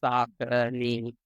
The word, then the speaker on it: Saucony: And the vendor themselves, the rep, there was a shirt and it had it spelled phonetically on the back. Saucony.